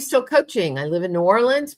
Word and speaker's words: New Orleans: I live in New Orleans, pronounced Nawlins by some people.